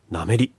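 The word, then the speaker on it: 南面里: を登りなめのなめというのは南に面する里と書いてなめという場所へ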